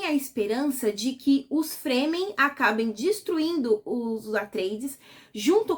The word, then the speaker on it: Fremen: Fremen se escreve F R E. E aí dá pra gente fazer a liga de que a gente também poderia ler esse nome se tivesse mais um e como free man.